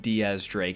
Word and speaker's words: X Drake: possibility that x-drake and I know his name is technically pronounced Diaz Drake and and that actually is very important in this video do keep that in mind Diaz as in the Spanish way of saying 10 I'm gonna call them